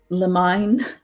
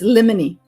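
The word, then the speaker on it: limine: and resetting hearing it's funny because some people pronounce it lemine well that's how it's spelled too I know it's lemony lemony lemony it s that sounds like a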